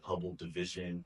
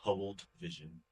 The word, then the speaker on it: Hubble Vision: People have called it Hubble. I don't We know. have to get it right first time. Yeah, like there's been a lot of wrong pronunciations of it, and I get it, but it is Hubble Vision, one word.